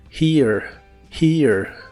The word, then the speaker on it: hear: no puedes escuchar algo la H se pronuncia como una J suave de español y después va el sonido de la i larga o doble la a casi no se pronuncia here here y veremos el verbo